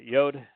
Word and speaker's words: Yod: The Yod is pronounced as you would pronounce yes.